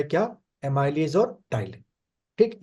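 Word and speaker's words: ptyalin: अब स्पेलिंग शुरू होती है P से, टाइलिन, एमाइलेज या टाइलिन।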